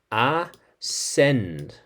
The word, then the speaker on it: ascend: So, ascend with a silent C.